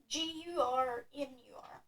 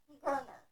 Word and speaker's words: Garner: My last name is pronounced Gurnur, Garner. It rhymes with Turner.